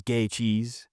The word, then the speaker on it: Gaethje: in this matchup between Justin Gatei or as he says gay cheese if you need to know how to pronounce it versus Patty or Patrick